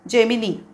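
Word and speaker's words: Gemini: English रास असणार जेमिनी okay जे म्हणायचा जेमिनी आपला मराठीतला ज असा हलका ज नाही जड हवा तो जेमिनी जमिनी ओके नेक्स्ट वन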